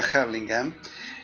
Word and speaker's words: Hurlingham: Yo me crié en un lugar en el Gran Buenos Aires que se llama Hurlingham, o se pronuncia Hurlingham, donde hay un barrio